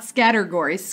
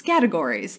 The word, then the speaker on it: Scattergories: Scattergories, not Scattergories, Scattergories. That's how you say it.